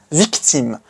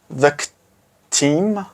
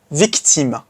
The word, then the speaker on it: victime: for victim in French, victime. But you gotta be careful about the pronunciation. Don't say victime, whatever. Make sure you pronounce the letters as they are. Victime, victime, which means victim in French.